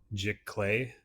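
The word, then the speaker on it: giclée: It's I think I pronounce it Jick Clay.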